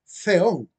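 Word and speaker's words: θεόν: Y también aparece Teón arriba. Se pronuncia con letra Z española, Theón, ¿verdad?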